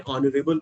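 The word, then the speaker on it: honourable: एन कह रहे हैं, लेकिन ये तो एच से शुरू हो रहा है। प्रोनाउंस जो हो रहा है उसमें आ रहा है, प्रोनाउंस जो उसको करते हैं जैसे उसमें साउंड आ रहा है। प्रोनाउंसिएशन के टाइम पे आप ऑनर पढ़ते हैं, ऑनरेबल पढ़ते हैं, और एच का यहाँ पर कोई यूज नहीं है आर्टिकल आइडेंटिफाई करने में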